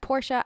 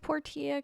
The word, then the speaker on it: Portia: can also pronounce it my time at Portia I prefer for Tia there are NPC's in the game that pronounce it both ways so we're just gonna go with poor Tia cuz I like it